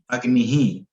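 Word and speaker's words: अग्निः: तो इसका प्रोनाउंसिएशन जो होता है इसके पहले वाले प्रीसीडिंग वॉवेल के हिसाब से होता है, जैसे कि मनः, अग्निहि, बंधुः।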